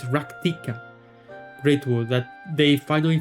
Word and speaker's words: Rak'tika: It's It's weird to to do the actual pronunciation. It's ractikica. It's It sounds so wrong. I don't know. The ractica. Ractica just sounds right, but it's ractika.